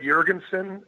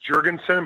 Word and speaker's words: Jergensen: Well, actually, to be fair to you, I think you said Jergensen. I mean, that really is the correct pronunciation. I mean, I'm Norwegian and Viking and Scandinavian, so it's Jergensen, but that's only because